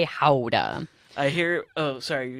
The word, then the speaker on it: Gouda: get a lot mm-hmm-hmm how does you say Gouda we say how'd uh I hear oh sorry